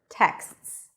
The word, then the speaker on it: texts: How many syllables do we have in the word texts? Try to say it slowly, break it down. If you said one syllable, then you are right. Because texts has only one vowel. Texts. Texts. So even though it's a long word with a lot of sounds, it's still one syllable.